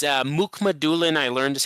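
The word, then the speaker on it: Mukhamadullin: not much to speak of uh it's uh Muk Mulan I learned as how to say his name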